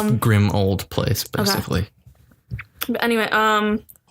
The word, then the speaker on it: Grimmauld: It's Grimmauld Place, basically.